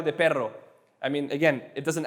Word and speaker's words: perro: actually it's so uh double r's are possible in spanish but they change the pronunciation so dog is p-e-r-r-o it's easy remember because the dog's always growling so double rs so perro perro pero and if